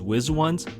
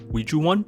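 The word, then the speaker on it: WIZ*ONE: colorized or color eyes their fan name ouija 1 can also be pronounced as wiz once uiju one the korean way or we as one to be safe i went with the korean pronunciation of ouiju one but despite the use of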